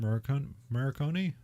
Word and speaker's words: Morricone: Morricone?